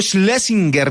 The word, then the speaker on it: Schlesinger: sin rubor alguno, sin ninguna pena si lo pronuncio bien. Santiago Schlesinger, bienvenido.